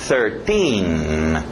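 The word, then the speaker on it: thirteen: TH de sapo, 13. Esse final, T-I-N-I, para no N.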